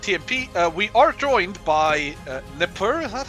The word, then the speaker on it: Nipper: we are joined by Nipper. Is that how you pronounce it? Is supposed to be pronounced in French. It's supposed to be pronounced Nipur, but it's kind of hard to pronounce for Nipur.